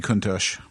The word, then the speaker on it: Countach: Probably Lamborghini Countach. Is that how it's pronounced? Yep, the Lamborghini Countach.